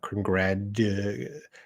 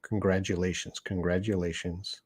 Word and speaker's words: congratulations: That T will make a D sound. Congratulations. I can't even say it now. Congratulations.